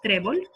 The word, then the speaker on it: trébol: Y lo mismo pasa con el último ejemplo que es trébol. Trébol es una palabra llana que no termina en N, en S ni en vocal y entonces le ponemos la tilde sobre la E.